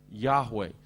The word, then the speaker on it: Yahweh: The name of, in English we often say Jehovah, and probably the Hebrew pronunciation is something like YAHWAH.